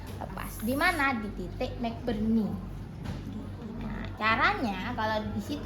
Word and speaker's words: McBurney: MC Burne, BURNEY. Bacanya McBurney. Jangan nanti kita ketat di titik tadi temanmu MC Burne ya. McBurney.